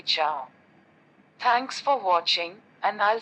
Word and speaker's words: ciao: As you can see on the screen, C before A or I is pronounced like CH in church, for example, ciao.